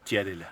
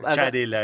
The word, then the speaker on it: Sciarella: Es la campechana, porque digamos técnicamente sería Sciarella, en la pronunciación adecuada del italiano. Toda la vida es Sciarella. Es Sciarella. Acá Charela, tenemos infinidad de casos barilochenses donde eso sucede con otros.